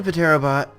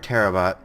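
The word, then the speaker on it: Pterobot: Going on to, usually Paterobot is, or Terabot, I probably should not pronounce the P so prominently, is usually 3 is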